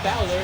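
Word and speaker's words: Bálor: Money in the Bank himself, Finn Balor, or Balor as it's actually pronounced.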